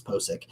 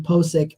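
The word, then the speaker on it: Pocic: I'm pretty sure it's Posick.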